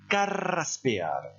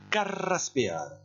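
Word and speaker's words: carraspear: ne prononcez pas ce verbe et la se prononcent carreras ce pea maintenant vous allez répétez après moi car race pea n'hésitez pas exagérer la prononciation une dernière fois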